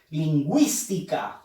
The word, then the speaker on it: lingüística: Lingüística. Fuerza de voz en wis.